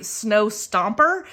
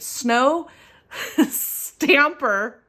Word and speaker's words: Snow Stamper: i for some reason i always want to say snow stomper but it's not stomper it's snow stamping but oh gosh see i can't even say it right snow stamper budgeting and her name